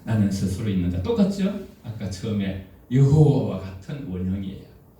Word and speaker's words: 여호와: 아까 처음에 여호와 같은 원형이에요. 히브리에서 자음만 존재하고 모음이 없기 때문에에 그래서네 글자로 쓰여 있어요.네 에걸자 후대에 무음을 붙여서 야외 또는 여호와로 발음하게 되었고 엄격한 유대인들은이 이름을 입에